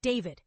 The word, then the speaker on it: D4vd: known to his millions of fans as D4VD, pronounced David.